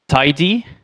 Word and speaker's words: TyDe: type driven development uh called uh pronounced tidy and so to to